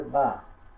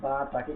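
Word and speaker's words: ب: সরে আ লসের লি ফ, আলিফ, তারপরে বা, ঠোঁট মিলিয়ে উচ্চারণ করতে হবে। যখন আমরা এই বাটাকে কি করব, উচ্চারণ করা শুরু করব, ঠিক ওই সময় আমাদের দুইটা ঠোঁট মিলে যাবে, দুইটা ঠোঁট মিলে উচ্চারণ করতে হবে বা।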